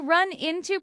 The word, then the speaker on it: run into: You can also run into problems, meaning to encounter difficulties, but the meaning of meeting someone unexpectedly is very common. Pronunciation tip. The stress is on into. Run into.